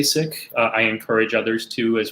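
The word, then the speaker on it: Sikh: preference it's to say sick and the reason why is because uh that's the original pronunciation in punjabi as opposed to the colonial pronunciation i i think that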